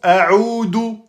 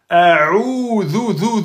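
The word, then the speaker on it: أعوذ: Eh oui, il y en a beaucoup qui prononcent A'oudou. Dou, ils prononcent la lettre del au lieu de la lettre zel. Erreur grave. A'oudou, the best.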